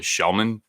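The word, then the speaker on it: Kellman: The guy whose name is spelled Kelman, but it's actually Shellman.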